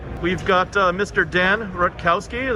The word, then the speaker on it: Rutkowski: Dan Rutkowski. Am I pronouncing that right? Yep, Rutkowski. that's right.